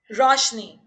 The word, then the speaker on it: Roshani: Roshni. It's spelled out with an A, just like the book Meher Roshni. Roshni. ROSHANI. Yeah. But pronunciation wise, it's just Roshni.